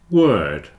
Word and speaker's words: word: W it's uh so word rhymes with third and bird so there are three